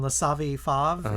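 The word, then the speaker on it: Le Savy Fav: Like Pat was in La Savi Fave, is how you say it?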